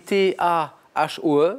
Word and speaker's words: Tahoe: Ça s'écrit T-A-H-O-E, on prononce Tahoe, Lake Tahoe, même en version originale.